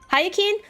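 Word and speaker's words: Hyacine: Oh, this is the way the Korean pronounces Hayen's name. Um, and because it's easier for me to remember that from hearing it so often, I've just defaulted to it.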